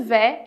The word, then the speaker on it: vais: Aqui em je vais commencer, o je vais é importante você saber que em francês as vogais AI sempre vão fazer o som de E.